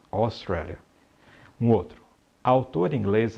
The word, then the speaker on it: Australia: Toda vez que você vir, considerando, é claro, algumas exceções, a grafia AU, ela terá o som de O, sendo esse O aberto.